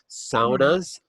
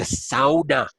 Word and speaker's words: sauna: Saunas are really good. I live in Minnesota, so I have to pronounce it the Finnish way because I get yelled at up here. It's a sauna, not a sauna.